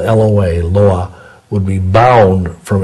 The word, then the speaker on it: loa: lying and deceitful spirits of the voodoo loa, it's spelled L-O-A, loa, would be bound from influencing that person